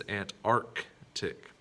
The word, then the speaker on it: Antarctic: about this next one is it antarctic or antarctic now this one's go this one might throw you a bit but it is ant arc tick we've got to remember